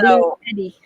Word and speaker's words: BLUETTI: Well, and it's spelled blue, then TTI is how this one is spelled. BLUETTI. Yeah, Yeah. that's how it was when I Googled it. So, So Blue Eddie.